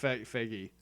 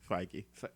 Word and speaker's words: Feige: even say Kevin fud FY f fagy figy damn it there you go it's just two sybles fi and ghe I just was not